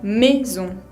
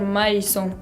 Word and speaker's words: maison: A con I, en vez de pronunciarse AI, se pronuncia como si fuera una E abierta. A con I se pronuncia E. Por ejemplo, la palabra maison. Maison, que significa casa, se pronuncia maison. No quiero escuchar maison, sino que maison.